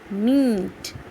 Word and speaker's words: meat: Meat, MEAT, meat. 2 vowel sound is there in this word. So E takes long vowel sound and A get silent.